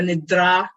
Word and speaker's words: nidra: In Sanskrit language, when in doubt how to pronounce D's and T's, always go dental. You go to dentist to have your teeth pulled out. How you talk when your teeth are pulled out? That is dental. Da, da, da, da.